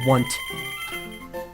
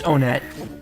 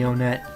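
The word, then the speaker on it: Onett: Is it Onet or Want? And it's definitely... It's Onet. It's definitely Onet, because that's how it's pronounced in Japanese.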